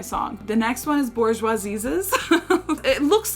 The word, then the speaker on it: Bourgeoisieses: It is pronounced Bourgeoisieses, so I was not crazy for saying that.